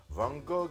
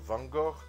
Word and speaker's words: Van Gogh: I have said Mucha instead of Mucha, Van Gogh instead of Van Gogh, and Schiele instead of Schiele.